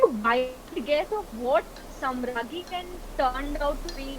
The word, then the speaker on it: Samrangee: So N is silent.